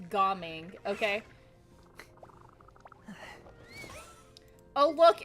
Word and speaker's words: Gaming: And his name is not pronounced gaming, it's Goming, okay?